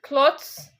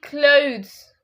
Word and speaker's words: clothes: It's not cloths. It's basically clothes.